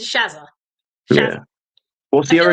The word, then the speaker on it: Shazza: Is it Shazza? Shazza? How do you It's pronounce Shazza. it? It's It's Shazza.